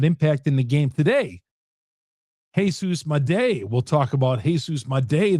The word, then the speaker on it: Jesus Made: Jesus Mday. Jesus Mday it is. We learned the correct pronunciation. It's Jesus Mday.